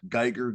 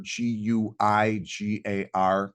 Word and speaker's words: Guigar: It's just at Guigar, Guigar, like guitar, but with a G for a T.